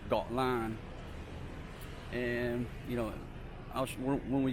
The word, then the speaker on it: Koh Larn: background is Koh Larn all its foreigners say coal arm but it's actually you know pronounced thought line and you know when